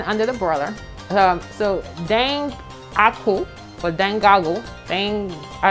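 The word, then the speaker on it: dengaku: get our salmon under the broiler um so dang aku for then goggle thing i don't know how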